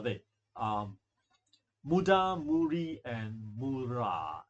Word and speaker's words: mura: And to Japanese pronounce r little bit like a mix of r and l. So so it's like mi moola. A bit like something like l but a bit of r. hidden inside.